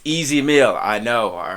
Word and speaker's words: Ez Mil: that is this brother easy mill i said his name right all right i didn't say ismail because i have a running joke with my with my my comment section i say his name wrong all the time it's easy meal i know all right